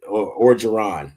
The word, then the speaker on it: Orgeron: LSU, I like Ed though, and Orgeron, ain't that how you say it?